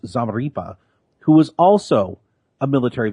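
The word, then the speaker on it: Zamarripa: And one of his victims was Dallas police officer Patrick, I believe it's pronounced Zamaripa, who was also a military veteran.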